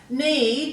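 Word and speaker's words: knead: Need, you've got the long E sound in that EA there.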